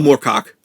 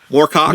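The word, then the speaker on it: Moorcock: michael moore oh michael morcock yeah i i did not hear you pronounce it properly i thought you either said warcock or my [ __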